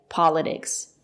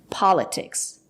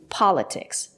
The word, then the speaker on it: politics: It's not correct to say politics. There is a stress after the letter T. We pronounce the letter T as T. Politics. Politics, not politics.